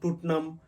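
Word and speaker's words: Tottenham: থাকি লাইসেস্টার square Leicester square লেসেস্টার square so উচ্চারণ হবে লেস্টার স্কয়ার টনাম কে বলে থাকি টটেনাম টনাম টোটনাম I mean you know বিভিন্ন ভাবে বাট সঠিক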